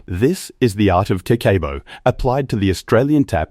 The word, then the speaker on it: Kakeibo: It is called Kakeibo, pronounced Kah-keh-boh.